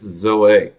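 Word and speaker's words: ζωή: physical life it's Zoe I know in English anyone named that usually is Zoe but in Greek or other pronunciations but in Greek it's Zoe to be physically alive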